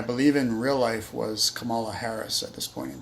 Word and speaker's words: Kamala: It's pronounced like Pamela. I always say Kamala when I'm talking about her. Kamala is a wrestler from the 80s. Kamala, pronounced like Pamela, is the presidential candidate.